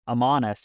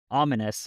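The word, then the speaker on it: Ammanas: he is named and I've always pronounced this like amus or something and and I heard somebody say ominous and I was like oh oh Shadow Thor's other name is ominus oh like it's I've always just pronounced that so differently in my head when I read it I didn't realize it was like a almost a pun yeah makes a lot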